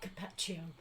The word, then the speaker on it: Carpaccio: How do you pronounce that? Carpaccio.